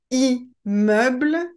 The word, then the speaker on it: immeuble: Immeuble, immersion, imminent. Il n'est pas recommandé d'insister sur la prononciation du M. Ce n'est pas parce que vous avez deux M que vous devez le prononcer plus fort.